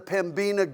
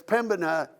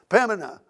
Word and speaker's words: Pembina: went up to the pambina gorge and got quickly um corrected that it's pembina and most people don't even pronounce the b in it pemena and so there may